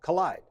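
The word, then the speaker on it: Kolide: on the talk show and on daring fireball collide Kol IDE collide is a security product for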